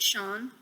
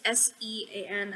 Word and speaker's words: Sean: for some reason um i believe you pronounce it sean it's s-e-a-n i always pronounce it sean so uh we start